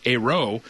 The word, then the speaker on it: Ayrault: determine if they should pronounce it as the Prime Minister does a row or if they should resort to voicing the L and the T in the written word because if they say